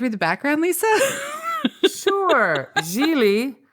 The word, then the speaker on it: Gigli: the background Lisa sure jeie rhymes with really as we learned in